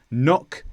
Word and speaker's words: knock: K before N is not pronounced. It's silent. Knock, knife, knee. They knocked on the door, cut the bread with a knife. I've hurt my knee. So here we just pronounce the N sound, not the K.